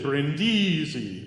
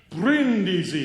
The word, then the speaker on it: Brindisi: A lot of people will walk in and say Brindisi, but it's not. It's Brindisi. And then if you have